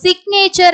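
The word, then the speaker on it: signature: இல்லையா சோ உங்களோட சிக்னேச்சர் இப்போ சிக்னேச்சர் அப்படின்ற வேர்டுல நம்ம ஜி வந்து உச்சரிப்போம் இதே வந்து சைன் அப்படிங்கிற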